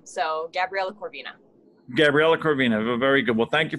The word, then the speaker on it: Corvina: do you say your last name it's cor corvina yeah so uh so my actual last name is okay vina is actually my middle name so gabriella corvina gabriela corvina very good well thank you very much for